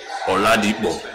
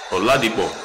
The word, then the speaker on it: Oladipo: Oladipo. That's how they actually pronounce it, but I'm giving y'all the American version. Oladipo.